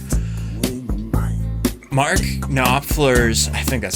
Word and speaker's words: Knopfler: Mark Knopfler's, I think that's how you pronounce his last name, Knopfler.